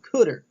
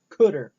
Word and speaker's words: cdr: The next function is what's called cuder. You know it's spelled CDR but it is pronounced cuder and what this does